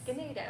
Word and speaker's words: Ganado: Is it Ganado? Yes. Ganado.